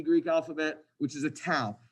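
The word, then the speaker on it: tau: then here's another uh Greek letter called a tow I want you to think of like a towel like a beach towel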